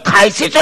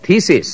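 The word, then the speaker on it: thesis: হতে পারে ইঞ্জিনিয়ারও হতে পারে আবার ধরুন ওই থাইসিসও লিখতে পারে থাইসিস নয় থিসিস ওই একই হলো কায়দা করে উচ্চারণটা করলাম আর কি দেখুন আমরা বোধহয় আপনার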